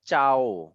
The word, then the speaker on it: ciao: That's why it's becoming like ciao. Oh. Correct. So o we are actually going to pronounce o itself.